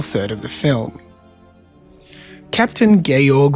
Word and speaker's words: Georg: Captain Gayorg Vontrap, yes, it's spelled George with the e taken off, was against the enelus because he was a proud Austrian patriot.